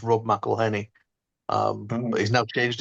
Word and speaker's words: McElhenney: I guess it's cuz everyone kept pronouncing it wrong cuz it's Rob McElhenney.